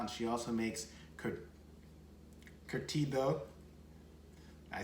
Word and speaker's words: curtido: her own sauerkraut and she also makes could curtido i said it right my wife was like